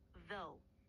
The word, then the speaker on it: though: Слово «though» произносится как «though». Начни с мягкого звука «the», который похож на «z», но с языком между зубами.